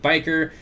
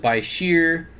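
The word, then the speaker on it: bichir: I pronounce it biker. Other people pronounce it by sheer. So I don't really get hung up on the pronunciations. No matter which way you say it, someone's going to know.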